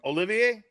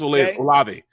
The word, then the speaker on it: Olave: Olivier? Yeah. Chris Olave.